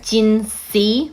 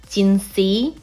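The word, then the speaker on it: Jinhsi: of problems for everyone you either go Jin C like the literal pronunciation of the letter c gin C or Jin you can't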